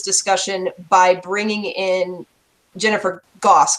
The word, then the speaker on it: Goss: So the plan was that the next episode we were going to continue this discussion by bringing in Jennifer Goss, correct is how it's pronounced, who is a U.S.